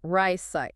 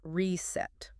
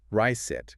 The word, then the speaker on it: receipt: So it's pronounced riceite, not reset. Ryet. Got it. Silent P.